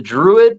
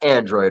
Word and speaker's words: Druid: It's the Druid project, not Android, right? It's Druid.